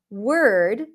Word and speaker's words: word: then an r or but when there is a w r in the spelling just like in the word word you are likely to drop the O completely so it sounds like you skip the O that's the stir sound